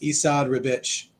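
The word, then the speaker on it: Esad Ribić: he doesn't have to apparently his name is pronounced esad ribich just to let you know Isa ribbage I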